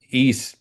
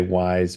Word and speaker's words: Ys: Um, that's kind of the plot of East as well, which is one of my favorite series. It's YS. Some people say wise, but it's it's pronounced east.